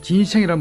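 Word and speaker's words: ginseng: 이 진생이란 말은 바로 인삼의 중국식 발음입니다.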